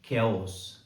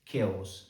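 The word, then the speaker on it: chaos: टी ई R character और अगला शब्द है केओस सी एच ए ओ एस केओस ये तीनों शब्द और अन्य वो सारे के सारे शब्द जिसमें सी एच कै की ध्वनि देता है ये ग्रीक ओरिजिन के है यानी ग्रीक भाषा से इंग्लिश भाषा में आए हैं।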